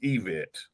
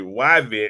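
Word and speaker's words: Yvette: We totally know it's pronounced EVET. No, no, no. It's Evet gave me permission to pronounce it Yvet because I'm country. So y'all don't y'all don't have to keep correcting us like we know it's Evet but because she from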